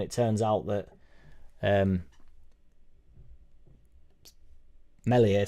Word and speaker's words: Meslier: turns out that um melier silent s meslier silent s is the best Keeper